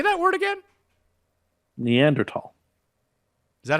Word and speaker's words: Neanderthal: I don't believe that say that word again neanderthal is that how we're pronouncing it now yeah that's how it's pronounced